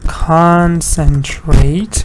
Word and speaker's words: concentrate: Con, there's a dot here. Sen, another one. Trait. So you have three syllables and stress is on the first part, although it's a verb.